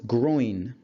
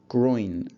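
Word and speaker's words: groyne: wind prevailing wind and third word is groin groin spelt with a Y there so let's look at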